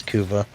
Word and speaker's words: Kuva: Is it a coova weapon? Yeah. Yeah, it's kuva.